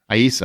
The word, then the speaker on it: Aissa: How'd you pronounce her name? Aissa. Aissa, that's what I thought.